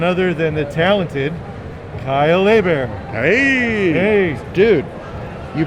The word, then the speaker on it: Hebert: Our guest is none other than the talented Kyle Hebert. Hey, dude, you pronounced my last name right.